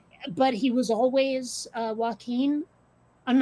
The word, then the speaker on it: Joaquin: okay then yeah and also the british cannot pronounce joaquin like you remember i was saying before how they tend to default to a for the letter a okay um hearing british people say whacking phoenix all the time and i'm like